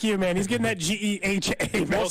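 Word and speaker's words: GEHA: Well, because last week he was calling it Geehaw. Yeah, he kept saying it wrong a couple times in the last week, so he got it right that time when it mattered most.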